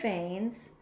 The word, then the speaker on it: vein: It means vein, which vein is spelled V-E-I-N, I before E except after C or when sounding like A as in neighbor or way. Vein, A, or right, there's that A sound, so it's E-I, vein, or you could also write blood vessel.